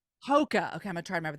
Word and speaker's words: Hoka: say it tell me how to say it hookah Hoka Hoka okay I'm gonna try remember that Hoka I